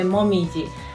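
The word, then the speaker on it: もみじ: talking about this country we have to pronunciation Koyo and the Momiji and Koyo means red leaves in Autumn and the Momiji means maple leaves but also Momiji is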